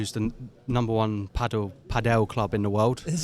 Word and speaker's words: padel: Um more paddle padell courts are opening. I keep saying paddle because in the UK the UK people don't pronounce it correctly.